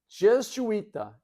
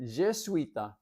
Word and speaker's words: Jesuita: Number two, Jesuita, Jesuita. And it's spelled kind of like Jesuit with an A on it, Jesuita.